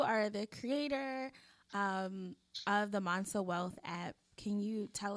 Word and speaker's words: Mansa: of the i'm going to say this wrong monsa hey i said it right monster wealth app